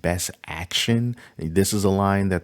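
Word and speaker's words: BST AXN: If you're into the BST XAN, which I think is pronounced Best Action.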